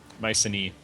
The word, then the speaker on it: Mycenae: Mycenae. Okay. AE is E, pronounced E in Greek.